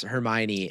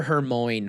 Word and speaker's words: Hermione: movies came out sure she tried to pronounce Hermione and when the movie came out it was mindblowing to all of us what her name was pronounced I think she called her her Moine for like a year